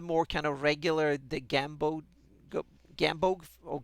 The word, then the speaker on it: Gamboge: And then you have a more kind of regular the Gambog or Gambogi. How do you pronounce that? Gambog forest? Yeah, Gamboge.